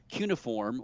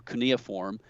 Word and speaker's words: cuneiform: a text called uh cuneiform or cuneiform however there's different pronunciations it doesn't matter if